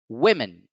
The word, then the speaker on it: women: example here is women as you can see the apostrophe the apostrophe is now over the first syllable it's before the first syllable so the first syllable must be stressed women women women let's look